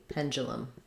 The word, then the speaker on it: pendulum: E pen Panda so this du sounds like J it has the um Pangea it's rather than a D sound it's a j sound so pen ju bum I would write that like pen chalum pendulum um kind of tricky one because of that sort of hidden ja sound pendulum um okay yeah